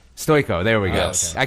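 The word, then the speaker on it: Stojko: I'm what a terrible name, Stoyoko or something? Yeah, Stoyko. Stoyko, there we go. Okay. I kept on pronouncing it incorrectly, and then my wife kept correcting me, so yes.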